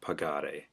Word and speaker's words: pagare: For number one, I've asked you to form the to form of pagare. And in this case, remember that in order to keep that hard G sound in pagare in the infinitive, you